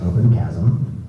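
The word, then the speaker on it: OpenQASM: qk sm quantum assembler which i've been informed by my colleagues pronounced open chasm i'm not sure why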